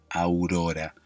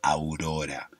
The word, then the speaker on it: Aurora: no tener diptongo pero acá Aurora tiene un diptongo que es aún no a u vocal abierta vocal cerrada Aurora pronunciar bien Aurora y que se escuche bien no que vos lo estés escuchando bien hay que abrir bien la boca Aurora hay que mover mucho los labios entre abierto y cerrado